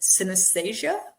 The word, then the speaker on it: synesthesia: I don't even know how to pronounce it. Synesthesia?